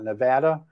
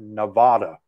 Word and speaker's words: Nevada: And right off the bat, I said Nevada. I said the word Nevada. And immediately I said Nevada, you know, and it was like, it was so hard for me to give up saying something that I said wrong that many years.